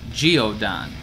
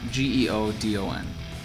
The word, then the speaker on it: Geodon: a anti psychotic called as far as I can make it out to be pronounced Geodon GE o d o n Geodon is normally prescribed for